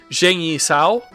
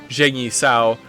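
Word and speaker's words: Zhang Yi Sao: chinese terms yeah it's pronounced like a soft like a soft long j it's my understanding all right so uh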